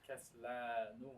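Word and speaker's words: كسلانُ: If a word ends with that alif and lam, I'm sorry, alif and noon, like Kaslan, it does not accept tanween.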